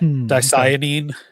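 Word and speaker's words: dicyanin: It's spelled d i c y a n i n d. Danine dye.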